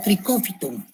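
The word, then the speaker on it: Trichophyton: Los géneros más importantes de los dermatófitos son el tricofitum, que se escribe así como están viendo, trichofitón y se lee como tricófiton.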